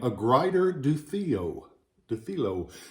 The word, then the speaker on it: Dufilho: Dufilho. You hear it pronounced and mispronounced several different ways. I've always called it Dufilho.